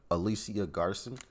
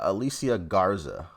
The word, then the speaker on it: Alicia Garza: actually myself alicia opal to messi and alicia alicia garson alicia garson which one is which and where are they after the george zimmerman acquittal last year we created the hashtag blacklivesmatter and uh uh alicia garza okay that's how you say her name and